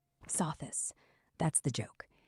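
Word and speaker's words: Sothis: So this saw this. That's the joke. It's not soft. It's so this.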